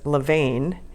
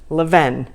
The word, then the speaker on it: Levain: pronounce this word because on google it says Levein and i've heard a guy on a youtube video say LaVon and so I thought I'll just call them and they answered the phone Levin so that is how I'm going to pronounce it so I'm going